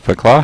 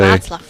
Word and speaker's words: Václav: it's 2 8s for, is that Fakla? How do you say? Václav. Okay. Václav.